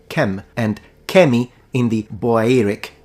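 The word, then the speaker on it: kmt: to be precise then the correct and most likely pronunciation in ancient Egyptian specifically in classical Egyptian is kumat kumatu nominative kumata accusative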